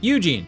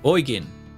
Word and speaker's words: Eugen: auste no it's auste ah Eugene no oin Japan I guess that